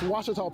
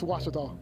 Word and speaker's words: Ouachita: pronounce it it's washita baptist university get it right it's water tall people it's watch it all and welcome back everybody